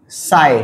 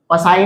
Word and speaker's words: psi: इसे प्रोनाउंस करते हैं हम PSI। पसाई नहीं होता, साई होता है, P साइलेंट है।